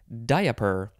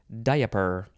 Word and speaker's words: diaper: about it is that you can also pronounce it diaper because that's how it's spelled you can make it three syllables diaper noun from The 14th